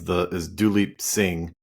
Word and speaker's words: Duleep Singh: So one of the most interesting figures in your book is Duleep Singh. Yeah. Forgive me if I pronounced it wrong.